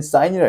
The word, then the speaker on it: sin: 여러분들이 배울 삼각비 3가지가 뭐냐면 이렇게 3가지인데 읽을 때는 SIN이 아니라 얘는 사인이라 읽고 얘는 뭐라 읽는다고?